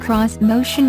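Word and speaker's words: Xmotion: on Japanese design elements this motion pronounced cross motion was designed to have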